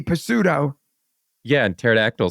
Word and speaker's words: pterodactyl: p Pudo yeah and pterodactyl spelled with a p too but you don't say a p yeah I know but